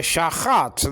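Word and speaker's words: שַׁחַת: Now in modern Hebrew, actually it will be shachat. There's no distinctions between the A classes in modern day Hebrew. All sound alike. The a and the ah sound like ah nowadays. You understand what I'm saying? There's no a like in the word hat. So throw your hat away. Shachat.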